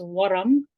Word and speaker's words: ورم: Swelling is ورم. ورم, you sort of roll your R's if you have that ability.